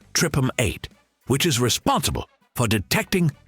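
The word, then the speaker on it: TRPM8: One of the MVPs of this system is a protein called TR R P M8 pronounced tripum 8 which is responsible for detecting cold sensations.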